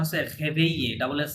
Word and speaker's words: réveiller: So, ভাইয়া একটু উচ্চারণটা করে আচ্ছা দিবেন ভার্বটার উচ্চারণ হচ্ছে réveiller ডাবল এস সাইলেন্ট হ্যাঁ Réveiller.